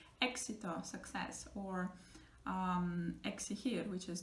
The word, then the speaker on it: éxito: between the two vowels, then it's going to pronounce like X, like K and sit together. X sound like éxito, success, or exigir, which is demand, or exagerar, which sounds exactly like the English word exaggerate.